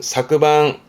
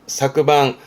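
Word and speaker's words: 昨晩: 발음은 사그방. 사그방.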